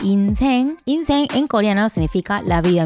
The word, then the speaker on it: 인생: LIFE, cioè IN LIFE, ma in coreano si legge INSAENG, INSAENG in coreano significa vita stessa.